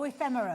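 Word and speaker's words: ephemera: E fe Ephimera. Ephra. Oh, ephemerra. Ephmera. I never pronounced it right.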